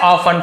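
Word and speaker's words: often: तो उन्होंने अक्सर पाया है, हिमसेल्फ यानी खुद को, तो उसने अपने आप को, ऑफन है ना तो अक्सर, इसे ऑफ्टन नहीं पढ़ेंगे, टी साइलेंट है, अक्सर अपने आप को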